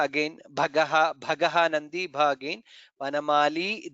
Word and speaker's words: वनमाली: Vanamali, there it is Dirgha, so we should pronounce the Dirgha.